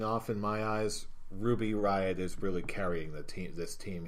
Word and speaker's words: Riott: The Riot Squad. Riot Squad. Yeah. Not Wyatt Squad. Yeah. Well, yeah. It was like, yeah, just look at the name, Riot. Not Wyatt.